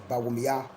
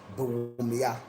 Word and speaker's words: Bawumia: But it is like in Dagbanle we say Bawumia, and in Mampusi they say Bawumia. You understand? It is the difference in the tonation, but we are all the same blood.